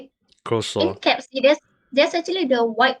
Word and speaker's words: croissant: It's pronounced as croissant.